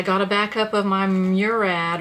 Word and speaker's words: Murad: a backup of my Murad or Murad I think is actually how you call it how you say it my daytime cream